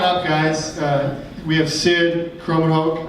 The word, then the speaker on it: Krommenhoek: We have Sid Krommenhoek. I've never said your last name. That's the first time I've ever said it. Did I say it right? You got it.